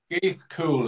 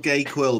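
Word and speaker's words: Gaoth Chuil: I wasn't very good at Irish at school, but Gaith Cool is how I pronounce it anyway. Okay. Cool. Not Gay Quill then. Well, I'll call it gay last time. That's the Essex pronunciation.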